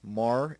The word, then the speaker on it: Mare: If you look over here, this is Mare, or Mar, I will say, I'll pronounce it Mar, which means sea, Imbrium.